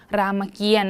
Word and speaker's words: รามเกียรติ์: คือ นี่ นะ คะ รามเกียรติ์ นั่น เอง ก็ จะ เป็น ต เต่า กับ สระ อิ นะ คะ ที่ มี ธนาคาร กำกับ ไว้ เรา ถึง อ่าน ออก เสียง เพียง แค่ รอ เรือ นะ คะ รามเกียรติ์ ลอง อ่าน ข้อ